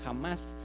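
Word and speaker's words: חמס: una traducción de una palabra hebrea que se pronuncia jamás pero si a veces la pronunciación en hebreo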